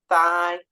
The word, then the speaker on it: thigh: these spellings so uh the silent GH thigh or though though also uses it of course so